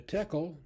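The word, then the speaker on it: Tekel: is up okay then the tekkel or shekel tackle or shackle whichever way you want you could be pronounced either way tackle shekel uh is a coin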